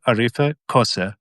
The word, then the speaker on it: Arife Köse: Today I'm talking to Arife Köse, a PhD researcher at the University of East Anglia. Am I pronouncing that right?